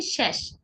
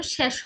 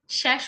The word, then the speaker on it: শেষ: একটা জিনিস, হ্যাঁ, অনেকে আমরা বলি শেষ, এর উচ্চারণ শেষ হবে না, এর উচ্চারণ হবে শেষ, শেষ। ওকে, শেষ বললে এর মতো হয়, তাই না? এটা কিন্তু এ দিয়ে উচ্চারণ হবে, এর উচ্চারণ হবে এ দিয়ে, শেষ।